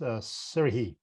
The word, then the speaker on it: Serhiy: So in Ukrainian, you would have to pronounce it with the ha, so it's Serhiy.